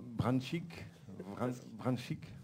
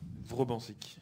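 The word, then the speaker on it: Vrbančić: Branchik? Vrobancic. Comme s'il y avait un E, mais il n'y en a pas. Sinon, c'est imprononçable.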